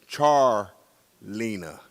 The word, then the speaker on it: Charleena: here since Wednesday and every time I hear my daughter's name is not pronounced right just like my name is Charles her name is Char Lena yeah she we thought